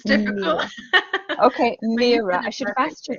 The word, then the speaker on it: Myhre: It's very tricky. It's Myhre. It's Norwegian. It's difficult. Okay, Myhre. I should have asked you that before we started recording. Oh, that's okay. Myhre.